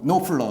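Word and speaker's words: Knopfler: 마크노플러 아는 분이거든요 어 그 KN O PF 발음이 좀 어렵습니다 노플러 어어 그런데이 마크 노플러 는 1907 80년대 다이어스트레이츠는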